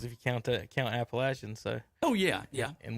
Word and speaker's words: Appalachian: you count to account appalachian so oh yeah yeah and we know how to pronounce appalachian it's not appalachian legion yeah yes i hate it